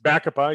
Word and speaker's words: Bacopa: How do you pronounce it? Bacosides? Bacopa, yeah.